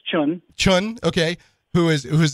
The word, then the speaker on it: Chiun: Remo Williams and his mentor I always say chiong but how do you how do you pronounce it I pretty much like that it's children Chun okay who is it who's this mentor insin